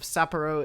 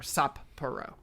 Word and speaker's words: Sapporo: the blue golden hawks a japanese pronunciation of sapporo is maybe a little unusual for english speakers because there's a pause between the two p sounds essentially to pronounce both i think similar to